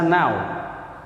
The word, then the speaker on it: know: Yang kelima, know dibaca now.